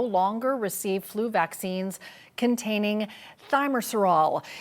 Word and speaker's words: Thimerosal: Thanks for being on the show, and we'll have to get the correct pronunciation from the expert, from the doctor here. Thimerosal, Cheryl. Thimerosal, okay, good to know.